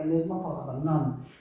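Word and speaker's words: نان: É a mesma palavra, non. Só que No Irã, a gente fala nun para isso também. Às vezes o O se transforma em um, né? Irun, Irun, Tehran, Tehrun, Tehran, vira Tehrun.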